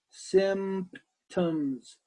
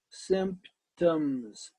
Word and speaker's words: symptoms: like this mm-hmm that's an PT right next to each other mmm-hmm so put that in the word now symptoms symptoms symptoms that's tricky that's